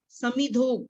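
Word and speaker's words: समिधोऽग्निः: समिधोग जब ओ की मात्रा है तो उसके एस साइलेंट है, हमने ओ के बाद सीधा ग पे जाना है।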